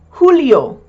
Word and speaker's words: julio: The J in Spanish is pronounced like an H. So, for June, junio. For July, julio. Also, you may have heard some men have the first name Julio.